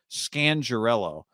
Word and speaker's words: Scangarello: uh rich scan scandarello i found out we've been saying it wrong this whole time that's gangrel scangirello uh he was on